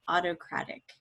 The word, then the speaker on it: autocratic: with the noun autocracy autocratic is a little bit different in how you say it than autocracy the emphasis is on a different syllable so this word is autocracy and this one's autocratic autocracy actually comes from